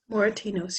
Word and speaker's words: Moratinos: How do you pronounce it, Moratinos? Moratinos, yes.